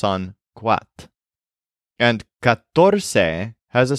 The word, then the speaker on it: catorce: The word for 14 is catorce. This is very different from cuatro. Catorce is spelled C-A-T-O-R-C-E. So both cuatro and catorce do start with a hard C, and both have a T and an R in there somewhere.